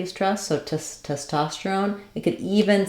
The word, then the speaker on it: testosterone: syllable testosterone testosterone um you could also think about it like Stone I put the r there because I feel like we link the r um between those two syllables so if I say